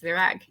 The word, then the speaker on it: Virag: Welcome, Virag. I want to make sure I'm pronouncing your name correctly. Did I say it right? You really nailed it. Yes, Virag.